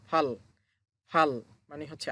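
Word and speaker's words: 팔: কিভাবে ফাল হলো? দেখেন এটা হচ্ছে ফিউপ। ফিউপ উপরে যেহেতু আছে প্রথম বর্ণ উচ্চারণ হবে ফ। সাথে হচ্ছে আ। ফ যোগ আ ফা। আর নিচে হচ্ছে রিউল। রিউল। রিউল নিচে বসার কারণে শেষ বর্ণ হবে ল।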